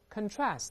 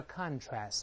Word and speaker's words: contrast: 但是我们如果用 contrast，当然这个名词叫 contrast，动词读成 contrast，那么这